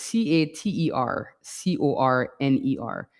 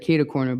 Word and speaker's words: catercorner: would place it if I could, but I'll spell it out for you. It's c a t e r c o r n e r. And I know, it reads like catercorner, but it's actually catercorner.